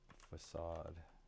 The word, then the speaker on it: facade: Um, do you know why facade is pronounced such a weird way? Yeah, it's pronounced facade, pronounced facade. Sod means because it comes from French.